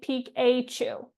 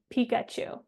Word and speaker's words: Pikachu: For example, in Pikachu, we don't say pe au. We say Pikachu. That letter a in Pikachu is representing a schwa vowel sound.